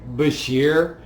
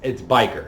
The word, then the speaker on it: Bashir: I used to say Bashir the Bashir, entire okay. time, but it's biker. DS9 Pride. Yeah, it's biker. It's biker. Yeah, Okay. it's the correct pronunciation is biker.